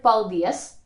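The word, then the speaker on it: paldies: la vaca good evening the word paldius thank you also derives from two words paul is from paliizzette help and this is an abbreviated form of dios god god help me pali theos again we put the stress on the second syllable and those negative pronouns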